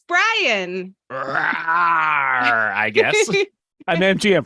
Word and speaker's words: Brian: Their name rhymes with lion. It's Brian.